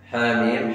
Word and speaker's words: حم: وحاميم هي تكتب حرفان وتلفظ خمسة أحرف، حاميم حاء وميم، لكن حين نقرأها حاء حاء وألف، ميم ميم ياء ميم، خمسة أحرف، يعني قراءتها خمسة أحرف وكتابتها تكتب حرفان.